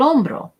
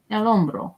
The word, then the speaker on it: hombro: El hombro. Remember that the H is silent.